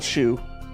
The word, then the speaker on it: Shou: there's this is what this is the third spelling s-h-o-u which is still a shoe um there's there's multiple